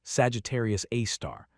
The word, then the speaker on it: Sagittarius A*: This invisible monster known by its formal designation as Sagittarius A, pronounced Sagittarius A star, plays an undeniably central role in shaping the structure and behavior of our galactic home.